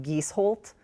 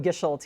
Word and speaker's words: Gisholt: It's actually pronounced "Gees-holt" in Norwegian, but we call it "Gish-holt" here.